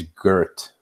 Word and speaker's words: Geert: His name's Gert, and it's spelled Geert.